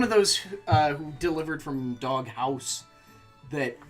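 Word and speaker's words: Dog Haus: It's Dog House, because it's H-A-U-S.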